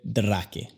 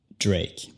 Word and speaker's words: Drake: Bueno, absolutamente no se dice Drake. Es Drake. En inglés vas a encontrar muchas palabras que terminan con la misma combinación de letras. A, K, E. Tenemos palabras como cake, bake, sake, fake.